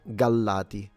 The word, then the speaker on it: Gallati: So yeah, I would double the L in the sense that I would make the sound longer. Gallati. And then obviously, yeah, pronouncing the T and the I at the end is E.